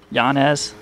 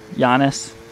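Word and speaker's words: Jonnez: I know the J is a Y, right?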